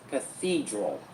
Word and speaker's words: cathedral: three three syllables and the stress is on number two. It's going to be cathedral.